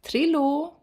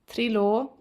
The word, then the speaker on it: Trilå: Å, like all. So when you see that A with the dot, it's å. And this is the pronunciation of the lyrics. Trilå, Trilå. Här är han, nära till land, Trilå.